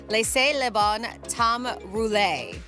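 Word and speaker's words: Laissez les bons temps rouler: them right no it's a it's called It's pronounced Le Leon Tom roule wow that's a long you can't just say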